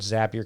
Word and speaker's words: Zapier: That's Zapier, which rhymes with happier.